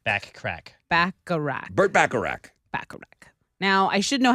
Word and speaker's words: Bacharach: heard it here first folks um songwriter Burt bachrock back Iraq back crack back a rack Burt Bacharach now I should know how to say his